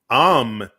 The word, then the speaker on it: âme: takes an accent on the A, but it's A-M-E, is âme en Yeah, français.